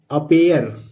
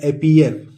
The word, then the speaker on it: appear: इसी तरह अगला वर्ड है दोस्तों APPEAR, अपेयर। अक्सर लोग बोल देते हैं अपीयर, लेकिन यह है वास्तव में दोस्तों अपेयर।